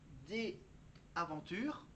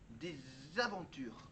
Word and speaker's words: des aventures: Par exemple, des aventures, il faut le lier avec la prononciation Z. Des aventures, des aventures.